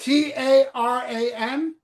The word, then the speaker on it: Taran: It's Aaron but with a T.